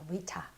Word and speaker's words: Rita: Rita. 자, 미국식 발음은요. 제가 첫 시간에 말씀드렸죠. T를 R가로 굴린다고 그랬으니까 Rita라고 굴리겠죠?